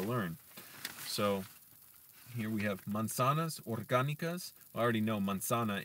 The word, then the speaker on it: manzanas: And by the way, the Z in Spanish, you don't say it like Z in English. You would say it almost like an S, basically, like se. So manzanas. Manzanas, even though the first S sound is a Z.